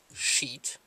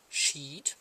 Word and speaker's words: sheet: and uh well so one has a long I sound sheet and or the I is pronounced long it's an e which sheet another one is short kind of like live and leaves I think it all